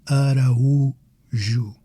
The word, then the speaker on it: Araújo: So take my last name as another example, Araújo. It breaks down as Araújo.